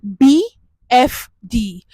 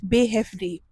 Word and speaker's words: BFD: the b b hefd in English is b f d but in German pronunciation is bef D now this be this